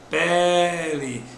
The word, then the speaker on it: pele: Já a palavra pele, a sílaba que pode ser prolongada é pele.